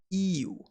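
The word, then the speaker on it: 言う: Now, its kun reading is pronounced iu. However, with the modification, it becomes imas, imashita, itte, itta, and so on. So you want to remember the i here as the starting point.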